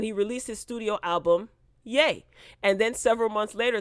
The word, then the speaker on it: Ye: he has now officially changed his name to yay okay and that's spelled y e for those who are confused